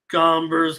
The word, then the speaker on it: Gomber: Gomber's cash money. I don't know if Solo meant to say, but I mean, yeah, that hombre is cash, but it's hombre kind of rhymes with Gomber a little bit.